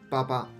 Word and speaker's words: 88: which Amanda is pronounced Papa and this means goodbye because it's close to the English bye-bye and also there is